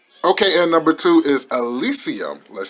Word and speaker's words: Elysium: in front of you guys but he is Elysium I already saw this movie a while back